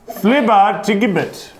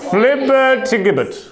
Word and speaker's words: flibbertigibbet: Flibbertigibbet. Can you even pronounce it? Excuse me, that is the correct pronunciation. If you want, flibbertigibbet.